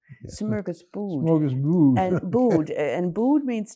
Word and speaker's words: smörgåsbord: Okay, so it's I'm going to correct your spelling, your pronunciation. It's a smörgåsbord. Smörgåsbord. Smorgasbord.